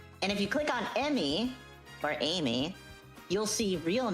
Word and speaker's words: Amy: of Amy Rose is Emmy E Mm Y Rose. So we are saying it wrong. Any person that's ever called Amy Amy is wrong. Her name is Emmy not Amy.